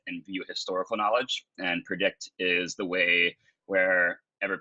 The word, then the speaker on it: PredIQt: is the homepage so if you go to predict ever pedia org it's spelled p r e g IQ t and